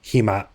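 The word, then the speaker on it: หิมะ: If you use the Hima. word snow with a long E vowel instead of a hi, and it raised up, but even if it doesn't raise up, ties are still going to snigger. It means vagina.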